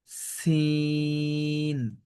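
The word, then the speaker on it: سين: এটা হল যা জা সিন একটু শীষ হবে সিন সিন মানে আমাদের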